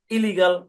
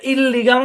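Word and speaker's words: illegal: হ্যাঁ, incorrect, impossible, irregular, ইলিগাল। এরকম শুনেন, একই কনসোনেন্ট দুইবার থাকলে একটা কনসোনেন্ট ধরে উচ্চারণ করতে হবে। এখানে কিন্তু আর দুইটা আছে, এখানে কিন্তু এল দুইটা আছে। এটা ইললিগাল না, ইররেগুলার না, ঠিক আছে?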